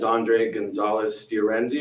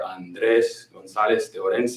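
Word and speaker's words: Andrés González de Orense: Again, my name is Andre Gonzalez de Orenzi, or if you can roll your R, Andres Gonzalez de Orense, depends who you are.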